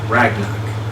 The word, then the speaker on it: Ragnarok: Ragnarok. No, it's not Ragnarok. Say it with me. Rag. Nah. Rock. Ragnarok? Yes. Now put it all together. It's Ragnarok!